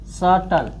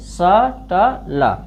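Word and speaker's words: subtle: इसी तरह बी से पहले आया है, टी से पहले बी आया है, टी से पहले अगर बी आया साइलेंट हो रहेगा तो सटल, इसको क्या पढ़ेंगे? सटल।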